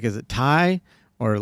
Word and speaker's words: Ty: fine I try I was like is it Tai or like is it pronounced I didn't know so I tried to go like in the yeah it's Tai man uh and people people call me Tai